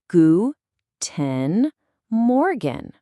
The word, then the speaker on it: Guten Morgen: Gu- ten Morgen.